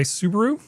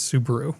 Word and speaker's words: Subaru: pick up from Reddit, one of the words that they almost never pronounce correctly is Subaru. Subaru. They always yeah. call it Subaru.